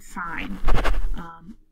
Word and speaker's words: sign: for instance, the word sign. It's spelled S-I-G-N, but it sounds like S-I-N-E.